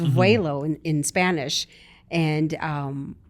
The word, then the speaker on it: Vuelo: lawyer always running yeah um so it means way low it is pronounced waylo in in Spanish and um I let this